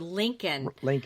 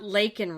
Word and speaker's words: Laken: He called her Lincoln, yeah, and not Laken Riley.